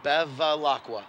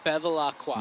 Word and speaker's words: Bevilacqua: Say it with me, Bevilacqua. Bevilacqua. You got it.